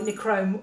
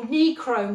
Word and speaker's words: nichrome: so you're looking for necrom wire which is spelt n for nigel i c h r o m e necrom so it's basically got an ni in front of the word chrome and it's basically wire